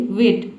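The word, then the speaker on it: weight: टी देख रहे हैं, यहाँ पे जी एच टी किसी भी वर्ड में एक साथ आता है तो जी एच जो लेटर है ये साइलेंट रहता है, केवल हम टी को पढ़ते हैं।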